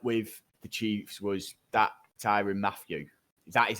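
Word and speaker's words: Tyrann Mathieu: what didn't help with the chiefs was that tyrion matthew that is how you say it yeah he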